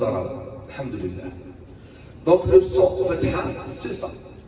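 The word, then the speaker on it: فتحة: Je sais que c'est difficile le H ici, mais petit à petit, on va apprendre la prononciation de tous les lettres.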